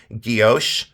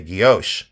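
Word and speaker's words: guilloché: pronunciation some people say gios and some people say guos so I say Goos I always have Goos is the technique it's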